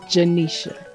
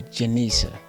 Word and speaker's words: Genesha: Ladies and gentlemen, I have Genesha Leshay with me today. Welcome to 8 plus 1 The Classroom. Thank you. It's Genesha. Genesha with a J? With a G sounds like a J. Oh, Genesha.